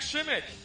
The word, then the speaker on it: Schimmick: Pretend the Z's not there and put a CH. No, Schimmick.